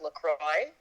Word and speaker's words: LaCroix: When you guys have LaCroix, we call it La Croix. La Croix, yeah. Because that's how it's French. It's a French word. And so we say it like the right way. Yeah. Except that I think the makers of LaCroix call it LaCroix. So I think I'm in the wrong.